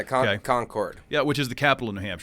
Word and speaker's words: Concord: school up there so everybody knows the town of conquered conquered New Hampshire yeah Concord yeah which is the